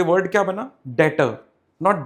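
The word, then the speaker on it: debtor: Assets का तीसरा मतलब है something called, you know, in this word this B is silent, तो ये वर्ड क्या बना? डेटर, नॉट डेप्टर।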